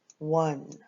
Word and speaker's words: one: And remember, the O in this word sounds like a W. A W. Yes. W. W. W. W. N. W. N. All right. And then this E at the end is silent. So it's W. N. One. All right.